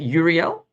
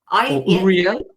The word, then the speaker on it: Uriel: Uriel. Uriel.